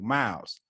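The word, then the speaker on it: Mowes: folks say my name it's more like m-o-w-e-s like mouse you have to say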